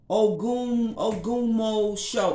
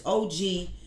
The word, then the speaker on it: Ogbomosho: Okay, it was not recognized by her priest in Ogunmo show. I'm pronouncing the word wrong because these is African words, but it's Ogbomosho.